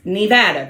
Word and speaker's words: Nevada: It's Nevada, Christina.